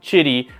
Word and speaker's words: Qidi: To me, like, I look at it and I see Qidi, but I believe Q is pronounced like chi, like CH.